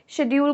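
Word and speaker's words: schedule: Indian English pronunciation में शेड्यूल को शेड्यूल ही बोला जाता है एंड ब्रिटिश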